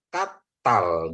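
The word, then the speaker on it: קָטַל: Kalau ini bacanya jadi katal gitu ya. Kenapa katal? Karena ini ada dages ya Bapak Ibu Saudaraku ya.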